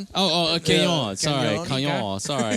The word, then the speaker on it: Cannon: Am I pronouncing that right? is. It's it's Canon. Oh. Oh. Canon.